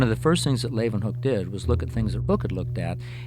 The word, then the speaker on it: Leeuwenhoek: L-A-Y, lay, u, then, they pronounce it with a V, hoek, Leeuwenhoek. Antonie van Leeuwenhoek.